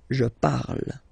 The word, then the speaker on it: parle: put the ending e, and then the way to pronounce it is je parle. So remember, we put it, okay, but then we don't really pronounce it.